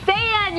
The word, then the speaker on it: Saiyan: It's Saiyan, you dumbass.